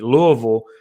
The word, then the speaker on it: Louisville: Let me say it right for the people up there in Kentucky, Louisville, and an unexpected loss to SMU, dude.